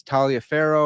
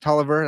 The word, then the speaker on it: Taliaferro: me dr charles toliver a lot of you are going to think it's talia farrow or something like that but it's pronounced toliver that's how he pronounced